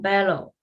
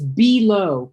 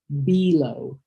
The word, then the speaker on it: below: Um uh the word I'm gonna correct you on that is it's below not bellow. It's a long e sound and because it's a word that you'll say often, you know, above and below. Below below.